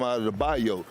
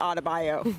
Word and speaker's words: Adebayo: You added a whole extra syllable to Adebayo.